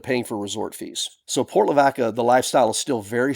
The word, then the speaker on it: Port Lavaca: Now, you may wonder why I'm pronouncing Port Lavaca, and not Lavaca, because that's what it means, the cow, right? Well, because we're from Texas.